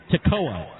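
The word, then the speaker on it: Tekoa: that they've spelled it tocoa t e k o a that's how spell is that how it is spelled yeah oh okay so the a is silent I'm trying to figure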